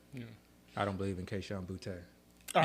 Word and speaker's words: Kayshon Boutte: I don't believe in Kayshon Boutte. All right, you pronounced that correctly, by the way.